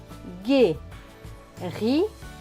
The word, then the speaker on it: guérir: Le mot suivant, G et U. Nous avons vu que c'était G. Donc G et U, G. Avec E accent aigu. E accent aigu, c'est E. Donc G et E, gai. R et I, ri. Suivi du R, cela va donner ri, Donc ce mot va se prononcer guérir, guérir, guérir.